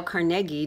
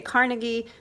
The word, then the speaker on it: Carnegie: to pronounce people's names some people say Carnegie but when you're from Pittsburgh like I am and Andrews influences everywhere you have to say Carnegie anyway one of those